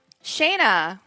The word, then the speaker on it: Shana: Shana I'm not just saying my name because I like the sound of it for those of you in Sweden who speak Swedish you may know that Shana is how we say hello and for those of